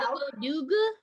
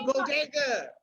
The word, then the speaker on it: bodega: First of all, funny that you think they would pronounce The Bodega. It'd be like the Boduga? The Boduga? Yes, they'll be like, oh, we're going to go to the Bobo shop. The Bobo shop! The Bobo. I'll never forget. Yo, first of all, let me tell you something. It's called The Bodega.